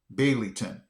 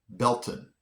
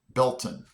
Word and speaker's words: Baileyton: This I would have pronounced this Baileyton, but it's actually Belton. Where happened to the Y and the, I don't know, the AI sound? I don't see where that gets Bell, but Belton.